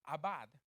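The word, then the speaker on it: עבד: La palabra servir que usa la Reina Valera que estoy usando es la palabra hebrea abad. A-B, A, acento en la A y la D, abad.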